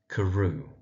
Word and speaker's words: Carew: So that's Danvers Carew.